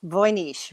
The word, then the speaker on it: Voynich: it's uh it's funny it's uh pronounced voynish right no i think it's voynich in english but i don't know people from the south of uh usa like to say voynic and people from the